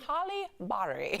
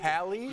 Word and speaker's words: Halle Berry: It goes Halle Berry. I had to pronounce it wrong? Yeah, Halle Berry. Halle Berry. Halle. Hallie?